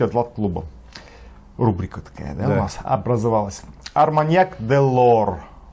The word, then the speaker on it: Delord: клуба рубрика такая образовалась делор делор Да правильно читается Да попе де делор